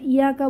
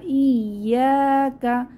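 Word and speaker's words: إِيَّاكَ: ইয়াকা, খেয়াল করি এখানে এটা 2 বার ইয়ার উচ্চারণ হবে, একটু বানান করে দেখি। এটা ইয়াকা বলবো না, ইয়াকা শক্তভাবে, হামজা ইয়া জের ইয়া আলিফ জবর ইয়া, ইয়া, ইয়ার উচ্চারণ 2 বার এসেছে, আর এক আলিফ টান হবে জবরের বাম পাশে খালি আলিফ হওয়ার জন্য।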